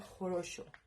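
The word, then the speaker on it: хорошо: Sopowo, pero se pronuncia jorosho.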